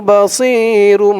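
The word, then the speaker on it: بَصِيرٌ: এখানে উচ্চারণটা খেয়াল করবেন একেবারে সি বলা যাবে না বললে কিন্তু সিনের উচ্চারণ চলে আসবে বলতে হবে মুখটা একটু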